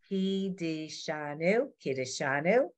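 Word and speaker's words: קִדְּשָׁנוּ: No, it's not ka, Lenore, it's ki. Kidishanu. It's an eval, ki. But we know it's kind of blurred together.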